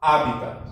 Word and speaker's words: hábitat: Hábitat. Lembre que o T aqui não pronuncia, o último T.